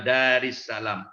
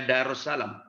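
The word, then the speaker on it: دارِ السلام: Itu sehubungan dengan kata alaihu tadi, apa ini bukan bacanya darussalam? Oke Ustaz. Wallahu yad'u ila daris salam kan? Iya, bukannya bacanya apa? Bukan darussalam. Bukan, ila kan ada ila itu. Jadi tetap dari salam. Itu dari salam.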